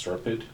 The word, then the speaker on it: SRPEDD: John, myself, and Maria from planning attended a town growth meeting with, I believe it's SERPID, that's how it's said, SRPEDD.